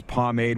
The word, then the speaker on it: pomade: second i use this pomade which i didn't even i didn't know how to say it what's this homemade no it's pomade rod yeah pomod yeah i'm using it